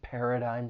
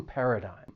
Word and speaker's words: paradigm: do not match so the third syllable has a silent G and the vowel sound it's a long I sound not a short vowel